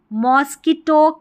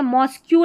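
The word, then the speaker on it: mosque: ठीक है, मॉस्क्यू नहीं बोलना, मॉस्क।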